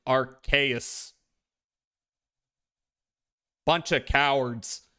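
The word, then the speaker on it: Arceus: Originally pronounced like Arus, but then Pokemon realized ars. Now it's officially pronounced like Arus.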